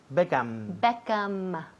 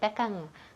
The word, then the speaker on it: Beckham: Beckham. Todo el mundo aquí dice Beckham con la boca abierta. Sí. Beckham, pues cierra. Beckham, M.